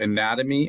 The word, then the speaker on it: anatomy: So, the NAT is stressed.